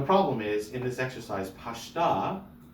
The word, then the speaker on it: pashta: Now, the problem is, in this exercise, pashta is accented on its last syllable, so they're putting a pashta on a non-accented syllable in the word pashta only.